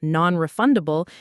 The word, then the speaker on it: non-refundable: The pronunciation is pretty straightforward, but the stress is key. It falls on the second syllable of refundable, nonrefundable.